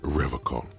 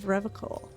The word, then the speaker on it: Revachol: He pronounces Revachol with a hard K, unlike other people. Serious question time. This man is no innocent. No one is. You said Revachol. I like to pronounce it the hard way. The old way. The Vespertine way.